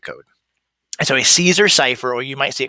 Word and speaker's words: cipher: I bet you saw like Caesar Kiffer. That word, it's actually that C right there. That's actually a soft C. It makes an S sound. Unfair, I know. So the word is cipher.